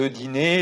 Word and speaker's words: dîner: Ce dîner, cuidado aqui, essa palavra a gente fala dîner. Cuidado com a pronúncia do dinner, do inglês, tá?